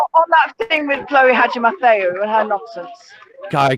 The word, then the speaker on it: Hadjimatheou: Hadjimatheou.